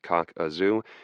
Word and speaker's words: Kakazu: At first glance, Kakazu, pronounced cock-a-zoo, did not seem especially difficult, neither unusually high nor uncommonly steep.